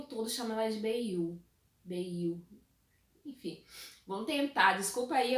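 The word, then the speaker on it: Beyah: Então, pra mim era Bia. Eu tava lendo como Bia. Até que a própria personagem vai e pronuncia o nome dela, ela diz que se pronuncia como Bei-yu.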